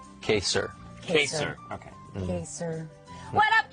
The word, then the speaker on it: Kaysar: Is it pronounced Kaysar or Kaysar? Kaysar.